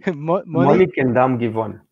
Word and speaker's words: Monnickendam-Givon: Monnickendam-Givon.